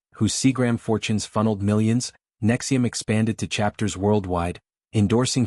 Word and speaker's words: NXIVM: Pronounced Nexium like the Antacid, it attracted high-profile devotees through executive success programs, intensives costing thousands, promising to shatter limiting beliefs.